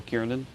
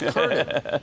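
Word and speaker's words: Kernen: guy you might have heard of named Joe Kieran. Uh that that's how the president pronounces my name, too. It's Kerner. It's Kerner.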